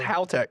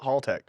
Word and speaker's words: Haltech: It's pronounced Haltech. If people don't know, it's not Haltech. It's Haltech.